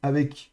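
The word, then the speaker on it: אָב: Donc ici, on a lef avec le camet et donc ça se prononcera à donc le bête ici est fricatif spirant, il y a pas de dag et donc ça c'est ave av et c'est paire.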